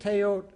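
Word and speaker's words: teotl: Right, the L doesn't get pronounced when it's at the end of a word. And they conceived teot as the sacred energy, power, or force.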